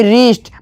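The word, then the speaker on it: wrist: रीस्ट मतलब कलाई।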